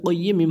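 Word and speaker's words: قَيِّمَة: Coffea জবর কইয়াজের ই, কইয়ি, মিম হা জবর মা, এরকম উচ্চারণ হবে কিন্তু, ঠিক আছে?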